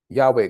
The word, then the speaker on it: Yahweh: about any God beside Yahweh God again just to give the both pronunciations that people are familiar with if they speak